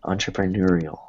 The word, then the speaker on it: entrepreneurial: And then the next one, the tough one, entrepreneurial.